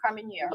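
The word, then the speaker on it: Carménère: How do you pronounce it? Carmenere? Carmenere.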